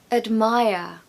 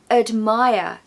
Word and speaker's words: admire: you can say love admire admire we haven't got a strong vowel sound in that first syllable because the second syllable is stressed and the rule goes that the schah sound falls on the syllable that is unstressed so we have uh in the syllable that is unstressed so uh admire admire and of course no R pronunciation at the end we just say Maya Maya there's no are there completely missing all together now we're going to